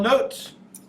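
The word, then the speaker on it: naught: and this are the same thing small little note this little notot this is pronounced not at the top means standard state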